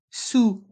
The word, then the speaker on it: sous: Et après, dans le mot après, le S est muet.